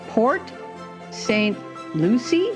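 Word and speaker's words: Port St. Lucie: and she lives with her partner in P Port St Lucy is that how you say it it is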